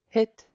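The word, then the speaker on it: hít: questions so far next one uh this word hit is house so repeat after me hit H H it and then the same word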